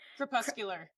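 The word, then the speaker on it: crepuscular: Okay, Camila, pronounce this word because I never can pronounce it. Kpuscular.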